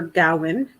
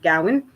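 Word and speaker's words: Gawain: book uh it's sir gowin and the green knight now gowin uh i'm pronouncing it that way there is a debate as to how to properly pronounce that name but i'm going with gowan uh you guys can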